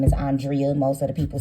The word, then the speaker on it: Andrea: today with Carlos King and her name is pronounced Andrea but as she stated in the interview she